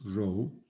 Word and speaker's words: rho: rho that's what this uh greek letter is pronounced rho is distance so it has to be positive